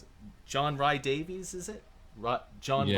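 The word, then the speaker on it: John Rhys-Davies: the thing is that after John Vr- John Vr- I can't pronounce it. John Rye Davies, is it? John Yeah, Rhys Davies.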